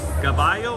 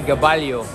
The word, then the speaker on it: Gaballo: that belt against raymar gabayo or how you say it well in the philippines you say gabalio but you know here we read it like spanish the bio this kid is 24-0